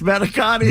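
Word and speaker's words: manicotti: is m a n i c o t t i that's manakotti.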